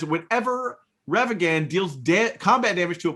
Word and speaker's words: Ragavan: Ravagan, the nimble Pilfer.